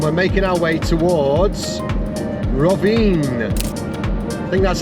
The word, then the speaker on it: Rovinj: making our way towards ravine I think that's how you pronounce it it's got a j on the end but I think that's silent it looks like ring but it's rine anyway it's beautiful little